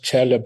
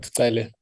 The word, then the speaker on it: Tsele: You know, when you battled to pronounce Roy's surname, it reminded me of Minister Tsele protesting that he is not Chele but Tsele. Otherwise, he would leave the meeting.